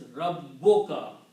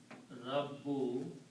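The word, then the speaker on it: رَبُّكَ: When you combine these, it will pronounce as Rabboka. When you combine, one dhamma is not pronounced. Rabboka means your Lord. So the word will be Rabbuka, your Lord.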